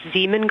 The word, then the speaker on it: Zeeman: Okay, and can you say the first letter? I may be pronouncing that wrong. What's the first letter of that word? Zulu. It's Zeeman. Copy.